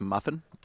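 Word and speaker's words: MUFON: heard of muon before it's mu I believe it's pronounced muffin muffin muffins uh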